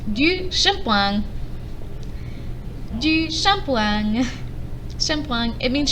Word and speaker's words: shampoing: It's pronounced du shampoing.